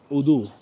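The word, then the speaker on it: وضوء: অজু আমরা বলি অজু, তারা বলে অজু। অজু তারা আবার অনেক সময় দয়ের মতো উচ্চারণ করে। উদু মানে হচ্ছে আমরা জয়ের মতো উচ্চারণ করি, তারা দয়ের মতো উচ্চারণ করে।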